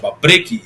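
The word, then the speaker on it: вопреки: al documental baqui está en cirílico escrito se pronuncia bpri y significa la traducción más correcta creo yo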